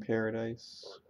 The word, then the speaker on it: Paradis: the founding T in Paradise I don't know I think it's pronounced Paradis Zeke has been brainwashed